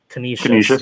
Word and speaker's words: Canisius: Prep at McDowell, and Erie at can you pronounce that for me? Canisius.